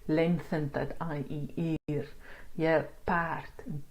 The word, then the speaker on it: paard: And funny enough, you get the similar sound, but this E does not have the circumflex on top of it. So it is paard and taart because of the R.